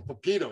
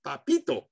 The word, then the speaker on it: Papito: if you talk to you couldn't call him Poquito you have to go Papito that's how you like